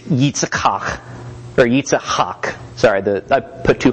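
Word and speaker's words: Yitzhak: in the middle Hawk so you get that phlegm in the middle and the hard K sound at the end eats Hawk I'll stick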